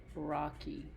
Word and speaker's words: rocky: Okay, hopefully you saw this word, rocky, where the Y makes a long E sound.